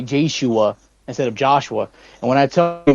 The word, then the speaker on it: Joshua: So instead of saying Joshua, they'll say Jashua.